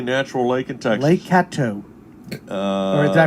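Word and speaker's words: Caddo: name the only natural lake in texas lake cato uh did i pronounce that correct yes you are correct yeah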